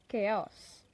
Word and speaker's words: chaos: I've seen a lot of people struggling to pronounce this word it is chaos okay it's a noun that means the state